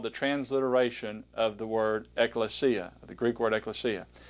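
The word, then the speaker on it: ἐκκλησία: does for you is give you a sort of way to pronounce it see Eck clay see ah XE ah and so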